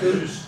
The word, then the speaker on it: lys: How did you pronounce lys? Okay. Sounds like lus.